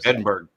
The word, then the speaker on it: Edinburgh: Edinburgh. That's my understanding. Oh, there's Ben Larard there. He'll he'll Edinburgh. Okay. Not Berg.